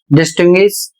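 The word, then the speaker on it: distinguish: कहीं पर व का उच्चारण हो रहा है और कहीं पर य का उच्चारण हो रहा है।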